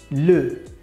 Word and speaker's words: le: for masculine we use always article L e l E and the very Prowse is lu lu and for the gender